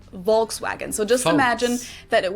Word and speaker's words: Volkswagen: English speakers call this Volkswagen, while in Germany we usually just call it VW, VW, VW. But even if we did go by the full name, it would be pronounced Volkswagen and not Volkswagen.